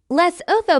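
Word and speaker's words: Lesotho: hired by the CCP Les oo pronounced Leu is a tiny country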